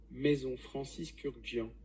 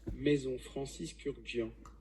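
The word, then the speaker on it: Maison Francis Kurkdjian: Maison Francis Kurkdijian. One more time. Maison Francis Kurkdijian. Maison Francis Kurkdijian.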